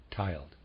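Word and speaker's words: tyled: y l e d i am pronouncing that tiled and the readers aside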